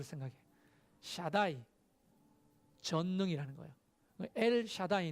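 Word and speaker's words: אל שדי: 이야기하면 요 한번 따라해 보실까요 예 샤다이 잘못 발음한 다 안 됩니다 얘를 차다고 이렇게 하면 됩니다 엘 샤다이 엘 샤다이 엘은 뭐예요 보통의 1일부터는 하나님이 야 있으라 l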